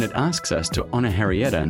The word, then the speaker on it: Henrietta: And now 75 years later, we say her name, not Heila, Harrieta.